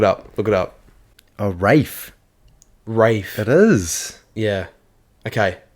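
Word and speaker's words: Ralph: sounds about right though so it's wfe Rafe fins RAF fins um but yeah but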